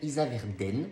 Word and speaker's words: Issaverdens: Alors, consultation intérieure, ça a été fait par Amandine Isaverden, je suppose qu'on prononce comme ça, même s'il y a un S à la fin, et qui est sophrologue.